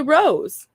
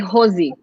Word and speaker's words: Rose: And I would say Rose. How would you pronounce it? Rose? I mean, in English, Rose. But I think, well, if you're in Portuguese, like if you say in Portuguese, we would say Rosie.